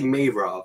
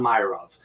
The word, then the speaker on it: Meirov: correctly um you know the way you pronounce it is the way everyone pronounces it at first but it's really mavro not meyer of so i'm like the month of may and then rove so um you know